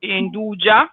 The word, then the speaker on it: Nduja: And it goes perfectly with a typical product from Calabria, which is Nduja or Nduja, if you want to call it in the dialect way, with a dialect pronunciation.